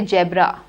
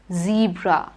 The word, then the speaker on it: zebra: is a zebra now in case of zebra don't say jabra it is the meanwhile zebra good next dash jumping is